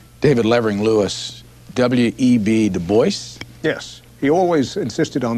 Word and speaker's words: Du Bois: David Ling Lewis web de Boyce yes he always insisted on that pronunciation uh he did not like the GAC